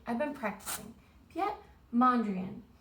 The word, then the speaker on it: Mondrian: I've been practicing yet Mondrian it looks like Monde rain that's how I remember like rain but he is a